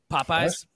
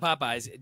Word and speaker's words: Popeyes: do you pronounce that Popeyes just Popeyes Popeyes popyes feels like feel like you are adding an H after the second P poy poy I mean